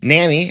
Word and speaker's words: NAMI: And uh NAMI as uh our friend Cameron Lobby Jones told us last week is how you pronounce it if you're cool. And uh if you donate